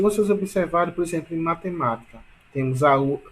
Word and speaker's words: matemática: E matemática? Olha a matemática, portanto, ma é a mais forte. Portanto, a sílaba tônica de matemática é ma, entendeu?